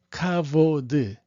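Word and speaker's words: כבוד: 뭐 요게 이제 히브리 철자로 카프라고 그래가지고, 이게 이제 원래는 CH 발음이에요. CH 발음인데 여기 안에 요 점이 찍히면 이게 된 발음이 납니다. 이걸 우리가 다겟이라고 그렇게 얘기하는데 뭐 너무 자세히까지 할 필요는 없지만, 그래서 카가 되는 거고, 요 베트라고 읽는 거는 V 발음을 하시는 게 맞습니다. 그래서 카보드 이렇게 읽으시는 게 맞아요.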